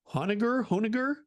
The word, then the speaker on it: Honegger: But anyhow, you should try to have Barbara Honegger on the show. I'm not sure how to pronounce it. I'm so bad with names, Sean. Yeah. It's Honneger on the show.